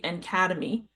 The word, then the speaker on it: NCADEMI: Please simply call us by the pronunciation of our acronym uh and that would be ENC Academy.